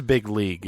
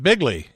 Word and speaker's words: big league: They're going to write big league because he says big league. Right, but he says it. He pronounces it bigly.